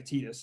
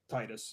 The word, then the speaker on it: Tidus: Tidus annoyed the shit out of me, and evidently it's pronounced that way, Tidus, not Titus, Should be Titus, which I but thought for all right.